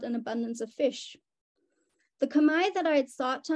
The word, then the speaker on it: Khmer: my explanation to Anna how that more correct pronunciation would really be the same sort of word and essence of Kamai so what does any